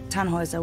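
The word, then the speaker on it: Tannhäuser: what's your name Tannhauser we'd pronounce it Tannhauser with an umlaut German roots yes my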